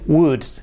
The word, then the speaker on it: wood: a little bit so wood pronunciation is like the conditional bold world would would